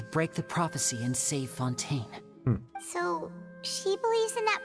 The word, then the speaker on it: Fontaine: members here lady arino herself included are from Fontaine that's how you say it we won't give